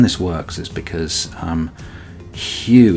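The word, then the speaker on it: Hugh: works is because um hue is a man's name but it's spelt h-u-g-h um and so what we have here is something that sounds like that and ends up meaning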